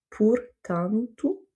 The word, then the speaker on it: portanto: Ou encore portanto. Donc ici, on n'a pas d'accent, on n'a pas de dernière lettre qui est un R, donc en fait l'accent tonique se fait sur l'avant-dernière voyelle du mot, et donc ça va être sur le A, ou en tout cas la syllabe antu, et du coup, les O qui sont avant et après vont se prononcer OU, portanto.